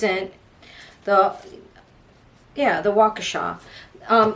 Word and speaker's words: Waukesha: to say this it's in the yeah the Waukesha um Waukesha Wisconsin at the Waukesha Christmas parade but it